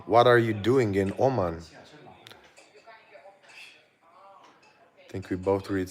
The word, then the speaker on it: Oman: Well, in English, it's Oman. My mom telling me what the pronunciation should be.